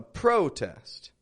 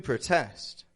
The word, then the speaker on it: protest: noun or a verb this first one a protest to protest the word completely changes just based on the stress let's see this other